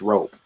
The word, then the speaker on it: ROP: And then I have a game called, I guess it's still pronounced Rope, but it's spelled ROP.